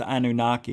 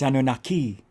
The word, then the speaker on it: Anunnaki: And it's not pronounced Anunnaki, in case you want to know. It's Anunnaki. They hate that we mispronounce it that way.